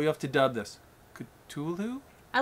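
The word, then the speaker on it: Cthulhu: good cuz I always I think I pronounced the H and it's wrong I know I'm saying it wrong I like when you say you say it well you have to dub this culu I like the way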